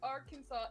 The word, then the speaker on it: Arkansas: incorrectly per state code the only acceptable pronunciation is in three syllables with the final s silent and the a's in each syllable but the italian sound and the accent on the first and last syllables keep your arms oh